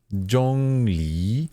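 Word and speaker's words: Zhongli: but pronounced J Le Jong le le mm Jong Le the second tone Rising tone is sort of like you're asking a question The The J Jong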